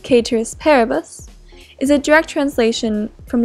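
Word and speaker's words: ceteris paribus: we assume citrus peribus citrus peribus more correctly pronounced caters peribus is a direct translation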